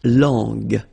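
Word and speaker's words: langue: more time La long remember when we've got this J and then U and then uh we get the sound g g because when you combine this J and then remember it was the sound J okay so you got to put this U between the two to get the sound G so you get La long long okay final not pronounced so you can notice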